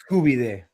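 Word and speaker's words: Koobideh: And not every Kooby day is the same. I'm telling you that right now. What are you calling it? Kooby day.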